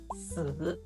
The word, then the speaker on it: 死: In Mandarin Chinese, the word for number 4 is written as 四 and pronounced 四. And if you say that out loud, 四, it sounds remarkably similar to the word for death, which is written as 死 and pronounced 死. The main difference is in something called tones.